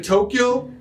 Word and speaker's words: Tokyo: 東京 It is two syllables only, notTokyo. Have you been to Tokyo?